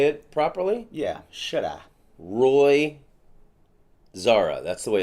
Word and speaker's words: Xara: But it's Xara in Portuguese.